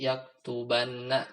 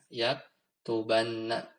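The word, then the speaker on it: يَكْتُبَنَّ: dari sisi harakat juga sedikit berubah aslinya yaktubu tapi ketika dimasukkan Nun Inas maka dia jadi di yaktubanna dibacanya yaktubanna dan kalau kemasukan misal kita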